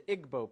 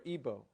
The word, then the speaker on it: Igbo: in Africa you have the Igbo people or Igbo pronounced either way there's 40 million of